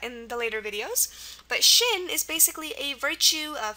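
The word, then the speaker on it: xin: a really interesting word it's pronounced Shin um like your shin bone it's pronounced Shin but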